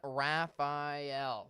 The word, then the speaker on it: Rafael: taking a look at Hurricane Raphael that is how you pronounce it we're at the our